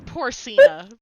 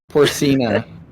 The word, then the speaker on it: Porcina: It's Porcina. Porcina. Like porcine, like, You'll say it, and then 2 seconds later, we'll still say it wrong.